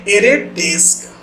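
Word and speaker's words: ArrayDeque: DQ also known as a array double ended Q pronounced as a array disc is a special kind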